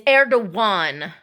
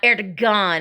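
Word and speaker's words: Erdoğan: We agree to, and it's Erdogan, not Erdogan.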